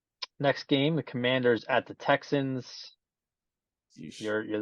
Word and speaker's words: Commanders: little bit, I was noticing people were like mispronouncing the name of the team, and they were calling them like the Commandeers, the Comanches, the everything but Commanders.